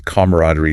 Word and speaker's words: camaraderie: Another uses camaraderie stress on the ma.